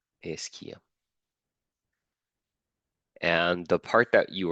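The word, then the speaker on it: ischia: this is called the isia that's how you pronounce it isia and the part that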